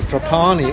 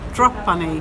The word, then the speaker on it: Trapani: have to clarify something we have been saying drapani all the time but now we actually found out it's called drop bunny with the accent on the first syllable did you enjoy your